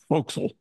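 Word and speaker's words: forecastle: and by the way for castles pronounced Fel in Navy langage the Navy folks or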